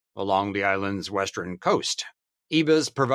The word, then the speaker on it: Ibis: Okay, we looked up the pronunciation and we think it's Ibis.